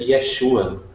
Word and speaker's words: Yeshua: Ela mencionou a palavra Yeshua, diz ela que a palavra se pronuncia Yeshua, que é salvação.